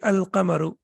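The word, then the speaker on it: القمر: a shimsu and here the lime is pronounced and the correct pronunciation will be al-kamaru um and then we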